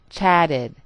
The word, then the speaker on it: chatted: the T sound walked and finally in the last example I say the full E D sound chatted even with the quick